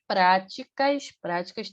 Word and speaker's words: prática: sociedade, vírgula, reflexo de práticas tem acento. Prática é uma palavra proparoxítona, né, que é a sílaba mais forte é a antepenúltima, e todas proparoxítonas são acentuadas, tá?